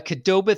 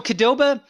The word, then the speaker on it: Qdoba: chicken and stuff so kedoba maybe i'm pronouncing wrong i've always pronounced it kadoba but it's like it peop if you read it like it's spelled it's q doba qdoba is it's like